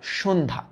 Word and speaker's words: সন্ধ্যা: এটা সন্ধ্যা। সন্ধ্যা। এটার উচ্চারণটা কি? এটার উচ্চারণ হচ্ছে সন। এ দেখো সন্ধন। তারপর কি? ধা সন্ধা এটা কি স্রোধ এ